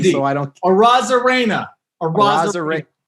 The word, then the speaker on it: Arozarena: Not even going to try and pronounce his last name, so I don't. Arozarena. Say Arozarena.